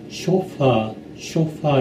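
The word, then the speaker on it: chauffeur: 그리고 쇼파 그 개인 운전수 개인 운전수를 쇼퍼라고 하는데 이건 액센트가 첫째 음절에 있습니다. 쇼파 이렇게 해야 되는데 이 사람들은 쇼파 하면서 아주 무슨 자기가 유식한 사람처럼 그렇게 말을 합니다.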